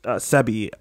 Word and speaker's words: Sebi: on a documentary about doctors Sebby is how he pronounced his name I'd like to say